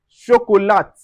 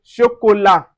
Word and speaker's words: chocolat: We don't say chocolat, we say chocolat. The T is silent.